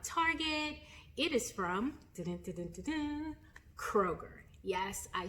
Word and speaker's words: Kroger: It is from Kroger.